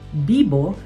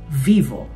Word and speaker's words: vivo: Ang paalala naman dito, ang letter V ay pino-pronounce bilang B sa Espanyol. So kahit ang spelling nito ay V o, ang pagsabi nito ay Bibo hindi vivo.